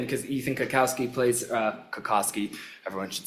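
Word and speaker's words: Cutkosky: I'm like, "Oh my I talked to Ethan because Ethan Kakowski plays uh Kakoski.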